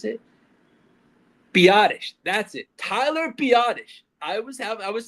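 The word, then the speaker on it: Biadasz: Tyler Biottish. I was have I was saying badass so much on last episode. It's Tyler Biottish. the center. That is his name is Tyler Biottish. Not badass.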